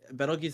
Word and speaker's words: Betelgeuse: Betelgeuse, I think, is like the actual pronunciation, but like the movie Beetlejuice, I think, is about like the same folk.